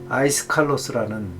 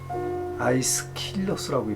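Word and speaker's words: 아이스킬로스: 비극 그 작가가 있었는데 아이스 칼로스는 아이스 킬러라고 발음해야 되겠네 그 삼부작 비극 아가론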